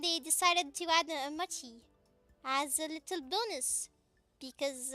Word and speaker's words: mochi: one really good mochi I don't know why I pronounce Emoji no Japanese ever would say it like that it's a Machi Machi one very good mochi